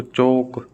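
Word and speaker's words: chalk: टोलक थोड़ी बोल रहे हैं अपनी वोक टोक चोक काम कालम नहीं काम ये तो अपन आम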